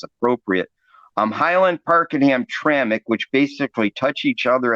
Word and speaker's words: Hamtramck: and and it is pronounced hamtramic even though it's missing the vowel and the mck or